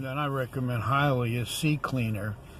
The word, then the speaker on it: CCleaner: Another program that I recommend highly is CCleaner. It's spelled C Cleaner, and then that's with a C, the third letter of the alphabet.